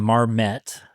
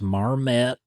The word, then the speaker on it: Marmet: It began with them miners marching from Marmet, that's how it's pronounced, Marmet, to Logan County, which I think is about 60 miles.